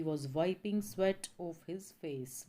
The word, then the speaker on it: sweat: इसको स्वीट नहीं बोलेंगे, स्वीट की स्पेलिंग SWEET, स्वीट होती है मिठाई, और स्वेट SWEAT, स्वेट होता है पसीना।